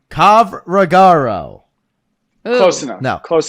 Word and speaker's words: Covrigaru: It's pronounced just like it's spelled. There's no magic potion here to this name. Covrigaru. Close enough. No. Close It's enough. a new. You say it. Kovrigaru. Covrigaru.